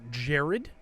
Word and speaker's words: Gerard: But the Grandmaster, the first Grandmaster of the Hospitaller Knights was Blessed Gerard, or Jared, spelled the same way as old Jared Key.